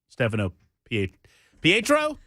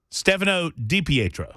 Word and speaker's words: Stefano DiPietro: Stefano Pietro? DiPietro. Stefano DiPietro.